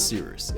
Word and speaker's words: Cyrus: My name is Seeroost. It's spelled like Cyrus, pronounced like Seerooster. Just take out the ter.